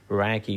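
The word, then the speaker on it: Räcke: And that's the work of people like Rohit Kandekar, Umesh Vazirani, Satish Rao, Harold Raki, we should pronounce it Raki, Sanjeev Arora, my favorite.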